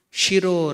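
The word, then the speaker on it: शिरो: Shiro, sha, there is difference. So when you are telling sha or she, the tongue is touching the palate. He. That is murdhanya. Shiro. Sa, it is not touching the palate, it is touching only the teeth.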